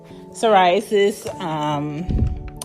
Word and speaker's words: psoriasis: You don't pronounce a P. I be forgetting. Psoriasis, ringworm.